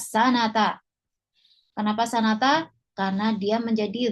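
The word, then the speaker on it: سنةً: Dia tidak didahului dengan fi, ya, maka kita bacanya sanata.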